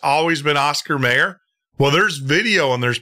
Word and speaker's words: Oscar Mayer: never was well to me it was always Oscar Meyer I remember singing a song a lot of people but it's Oscar Mayer Bernstein Bear Bernstein Bear they're what it is